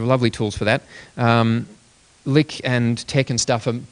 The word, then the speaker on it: LyX: um pronounced a lick but l yx and it's capital L little